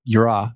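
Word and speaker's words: יראה: Well, and it's so interesting when you say yirah, if I'm pronouncing it correctly.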